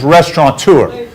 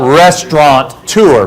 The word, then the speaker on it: restaurateur: The other word that they mess up all the time is restaurateur, because most people spell it restaurant-tour, but there's no N in restaurateur, right?